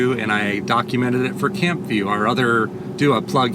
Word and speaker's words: CampVue: But every other one I was able to get to and I documented it for Camp View, our other do a plug here. It's a YouTube channel. It's spelled C A M P V U E.